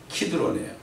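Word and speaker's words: Kidron: 이 케드론, 영어로 케드론 돼 있잖아요. 원래 히브리어 발음은 키드론이에요.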